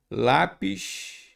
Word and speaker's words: lápis: Repare que a palavra aqui não é lápis, lápis. Ah, pega o lápis para mim. Sim, lápis. Então a sílaba tônica é o lá.